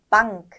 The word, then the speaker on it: Bank: Bank, Geschenk. 네, 여기서 이제 포인트는 반크가 아니라 빵크라는 소리가 난다는 거고요. 그 다음에 N하고 기가 만났을 때 응그가 아니라 응에서 끝내버리시면 됩니다.